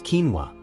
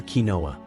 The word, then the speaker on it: quinoa: give it a try it is pronounced as quinoa usually mispronounced as quinoa or kinoa quinoa is a seed often used as a